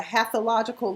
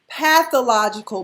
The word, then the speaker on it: pathological: lot of mispronunciations and when karlie kept saying that pool was a half illogical liar i was like everybody audience was like way pathological baby is the word not half illogical it's pathological how you gonna be a